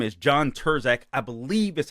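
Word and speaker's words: Turscak: This guy's name is John Terzak, I believe is how it's pronounced. I'm assuming that the C in it is silent.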